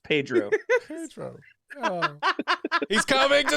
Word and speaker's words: Pedro: Just Padre, please. Oh, sorry. Padre, can you hear me? All right. It's pronounced Pedro.